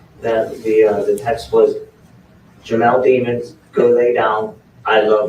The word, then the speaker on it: Demons: That the text was Jamel Demons, go lay down, I love you, all in capitals. And remember, demons like rhymes with lemons.